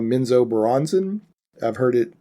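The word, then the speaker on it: Menzoberranzan: Their main city is, and I'm always going to say it wrong, Minzo Baranzan. I've heard it pronounced differently, but that's it.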